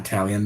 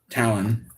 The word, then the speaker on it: Talon: it or pronounce it is Italian or Talon not Italian there's no I Talon okay I messed up obviously Talon and he sent me